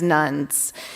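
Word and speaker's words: nones: and instead identifying as nuns and that's spelled in N not Nu NS the term nuns refers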